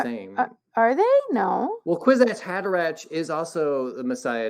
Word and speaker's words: Kwisatz Haderach: However, I don't know if do you say it right in your video for the thing, the Kwisatz Haderach. Quizzy. Kwisatz Haderach.